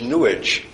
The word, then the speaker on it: New Age: spirit and in fact Robert Bly pronounces New Age newish to rhyme with sewage for some reason so